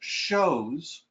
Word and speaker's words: chose: The word chose and it's actually pronounced chose is another word that you might see on the state exam.